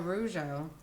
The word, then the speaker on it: Rougeau: Oh, Rougeau.